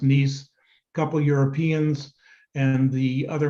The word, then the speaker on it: Nice: as the nice model looks like nice pronounced nice couple europeans and the